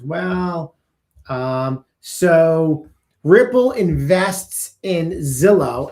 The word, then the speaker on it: Zilo: I hope I'm saying it correctly. Zillow. ZILO. This is a very significant development. Ripple isn't just building payment rails anymore. They're building the infrastructure institutions need to issue, manage, and move tokenized assets by investing in Zilo, Z-I-L-O, and Liquido.